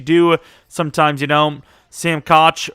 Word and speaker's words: Koch: sometimes you know sam koch or cook i guess apparently it's pronounced um yeah he'll be